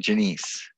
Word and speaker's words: Janiece: janiece okay all right so it's pronounced your last name janiece um yeah is this someone else might pronounce it janus i suppose you've probably